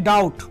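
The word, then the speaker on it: doubt: কি আমাকে ডাউট করো তাহলে ডাউটের বিটা কিন্তু সাইলেন্ট দেখুন ডাউট যদি আপনি লিখবেন তখন লিখতে হবে ডি ও ইউ বি টি কিন্তু আপনি মুখ দিয়ে যখন বলবেন তখন বলতে হবে আপনার ডাউট ডি ও ইউ টি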